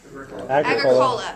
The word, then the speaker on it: Agricola: Agricola.